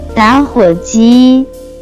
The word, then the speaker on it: 打火机: Next we have lighter, which in Chinese can be pronounced as 打火机，打火机，打火机。 Let's practice it again one more time. 打火机， Let's explain it in detail. It has three characters. 打火机， All have different meaning.